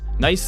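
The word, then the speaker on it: gneiss: you who don't know nice is a type of rock that yields some pretty good climbing and yes the g is silent we managed to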